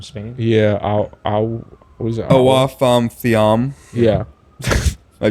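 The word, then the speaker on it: Awa Fam: Awaf Thiam. Yeah. I butchered that.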